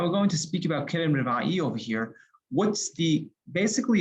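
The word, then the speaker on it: כרם רבעי: Others pronounce it as Kerem Revai. We pronounce it Kerem Revai.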